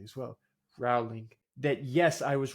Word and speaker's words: Rowling: I got to start pronouncing her name correctly as well. Rowling.